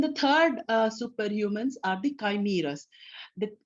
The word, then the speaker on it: chimera: Then the third superhumans are the chimeras. It's CHIMERA is pronounced as chimera.